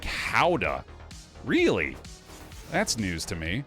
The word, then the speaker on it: Gouda: You're pronouncing Gouda incorrectly. I am? It's more like Howda.